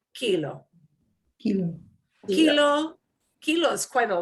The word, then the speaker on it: kilo: Last letter is a vowel. We punch the second to last syllable. Kilo.